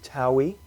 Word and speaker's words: Taui: main website to go to is our company Taui, which is an ancient Egyptian word. It means the two lands, and it's spelled T-A-U-I.